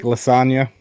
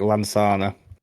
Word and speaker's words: Lansana: Then I've got Eric Lasagna. That's not really how you say his name. It's Eric Lansana.